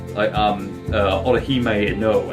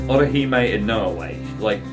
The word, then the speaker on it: Orihime Inoue: Orihime Inoue. I think I'm pronouncing that properly. That's how they pronounce it in the English dub. But yes, Orihime Inoue.